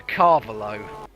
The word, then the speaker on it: Carvalho: Carvalho. That's close. But Ricardo Carvalho, the football player, pronounced like that.